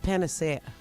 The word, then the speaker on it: panacea: It's actually pronounced panacea.